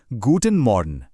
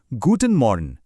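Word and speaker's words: Guten Morgen: सुबह के लिए हम कहते हैं गूटन मॉर्न। मेरे बाद दोहराइए, गूटन मॉर्न।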